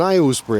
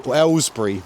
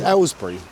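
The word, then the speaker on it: Aylesbury: This is uh what we call an Alsbury accent. Um, Ellbury actually. Alsbury is the posh way of saying it. Oh god. Um, yeah, it's Ellbury.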